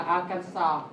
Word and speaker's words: Arkansas: Cái từ thứ hai là Arkansas. There is no S at the end.